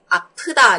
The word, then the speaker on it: 아프다: Lưu ý đọc là gì? 아프다 nhá. 아프, âm gió đúng không?